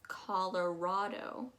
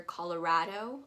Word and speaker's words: Colorado: Underneath that, we have Colorado. Again, I hear Colorado a little bit.